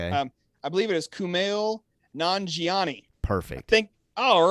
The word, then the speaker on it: Kumail Nanjiani: to get his name right i tried to pronounce it out loud before we went live tonight um i believe it is kumail nanjiani perfect i think all right here we go